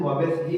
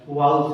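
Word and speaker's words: vowels: Wavell का, तो इसका वावेल्स का प्रोनाउंसिएशन वावेल्स ही नहीं होता है, वाउल्स होता है।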